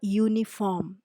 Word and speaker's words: uniform: example would be a uniform because all these words though they start with a vowel sound you they are pronounced with the Y sound University uniform unicycle Etc